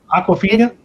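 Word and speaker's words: Awkwafina: I want to make sure that girl that I don't know how to pronounce her name. Honest to God, it's Aquafina.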